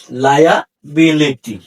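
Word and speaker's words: liability: এইযে এল আই এ লাইয়া এই আই এর উচ্চারণ হবে আইয়া তাহলে লাইয়া বিলিটি লায়া বিলিটি এইযে আমি লিখেছি লায়া এইযে আই ইউ সরণ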